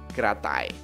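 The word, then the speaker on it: กระต่าย: Nah, kalau ini ada kokai, rore secara a dibacanya kra. Ya? Yeah? Kra. Gabungan ya, kra. Lalu ada totau, secara a yoyak ya dengan mae. Jadinya tai. Kita gabungin kratai. Kratai, ya. Kratai.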